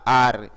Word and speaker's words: our: है तो माई या आर, और माई या आर आया है तो लिखेंगे योर। यहाँ पर ये आवर प्रोनाउंसिएशन नहीं है इसकी प्रोनाउंसिएशन होती है आर।